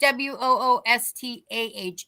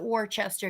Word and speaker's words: Worcester: And we say WOOSTAH. It's spelled Worcester. Don't ever call it Worcester if you're coming to Massachusetts, people.